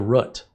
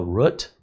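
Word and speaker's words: route: So he says, have you checked the root? We were talking and he says, have you checked the root? The root, what is a, like I was baffled, what do you mean root? R-O-U-T, a root?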